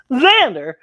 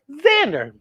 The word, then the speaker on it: Xander: It's pronounced Xander, even though it's spelled with an X, it says Xander.